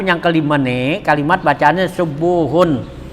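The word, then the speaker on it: سبوح: Nah kecuali katanya as-subuhu wal kudusu, kalimat subuhun dan kudusun itu huruf pertamanya dhammah katanya gitu. An tasbih yakunu bitaat ya, subuhun tuh painal dhamma fihima aksaru, karena bacanya subuhun dan kudusun pakai dhamma huruf pertamanya itu katanya lebih banyak dibaca daripada sabuhun gitu ya.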